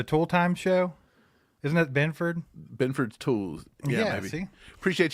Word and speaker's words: Benford: might be able Benford how how does he pronounce it Benford yeah Christian Benford they think he's he's going